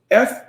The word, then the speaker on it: frisson: Frisson. Pronounced frisson.